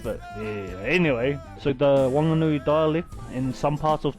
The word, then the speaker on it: Whanganui: Anyway, so the Wanganui dialect in some parts of Taranaki as well, Wasties, is that when we speak, we don't pronounce the H. So where most people would say whanganui, we say wanganui.